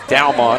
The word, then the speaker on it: Dalmon: I know we've kind of butchered his name a little bit here tonight because of the way it's spelled, but that is Dalmon, and Dalmon's had a lot of catches here tonight.